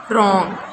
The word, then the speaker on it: wrong: Wrong, wrong, right, rot, rap. So here W is silent.